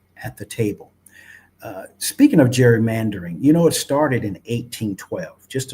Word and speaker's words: gerrymandering: And then it lost its hard G and became gerrymandering later on.